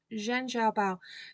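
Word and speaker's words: Zhen Xian Bao: Zhen Bao. It's spelled Z-H-E-N and then X-I-A-N and then B-A-O.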